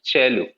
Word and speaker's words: cello: double bass violin viola cello is written in cello what is pronounced cello then double bass strings